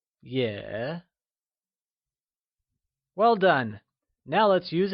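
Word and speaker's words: 也: you try and say yeah it is said with a falling rising tone also known as the third tone like yeah well done now let's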